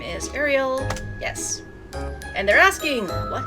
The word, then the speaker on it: Ariel: She is A-R-I-E-L. Not We don't need Ariel. That would be a weird pronunciation. Ariel. There we go.